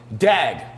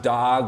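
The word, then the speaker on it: דג: It's spelled dag, but it may be pronounced dog or something like that.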